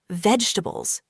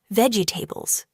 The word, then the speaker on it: vegetables: A lot of people say it like this, vegetables, slowly and with every syllable. But in natural English, we often say it faster and smoother. Vegetables. Only three sounds.